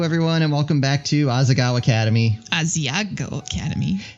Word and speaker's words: Asagao: Hello, everyone, and welcome back to Asagao Academy. Asagao Academy. It's pronounced Asagao. It's not pronounced Asiago.